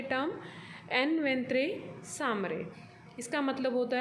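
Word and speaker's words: en ventre sa mère: इसका प्रोनाउंसिएशन आप प्लीज़ ध्यान से सुनिए। एन वेंत्रे सामरे, एक लैटिन मैक्सिम है जो कि आपने ट्रांसफ़र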